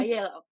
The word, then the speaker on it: Aiello: Aiello.